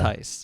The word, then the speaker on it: Altice: So I'm talking to, how do you pronounce it? Is it Altice? Close. It's Altice. Yeah. Altice.